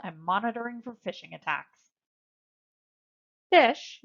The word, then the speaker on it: phish: Fish is pronounced just like it's spelled, which is to say, like the word fish.